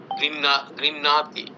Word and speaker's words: গৃহ্ণাতি: এখানে হ আগে উচ্চারণ হচ্ছে গৃহ্ণাতি। হ্যাঁ, গৃহ্ণাতি। এখানে হয়ের উচ্চারণ আগে হবে।